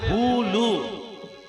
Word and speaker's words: হুলু: উলু নয়, উচ্চারণটা হবে হুলু। এই প্রত্যেক কীর্তনে এই কথাটা কিন্তু ভুল করে। উলু লেখা নেই, বইয়েতে লেখা আছে হুলু।